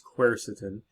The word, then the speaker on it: quercetin: like resveratrol the dreaded quercetin that's how you pronounce it it's quercetin and many of you have asked about quercetin